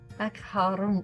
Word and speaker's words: macaron: Macaron in your throat, macaron.